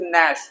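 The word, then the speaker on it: gnash: इस तरीके से नैश, जी साइलेंट है, नैश नहीं, नैश, दांत पीसना।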